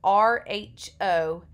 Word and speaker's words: Rho: this symbol down here we call this Rho Rho is how we pronounce this so this is not a P when you see this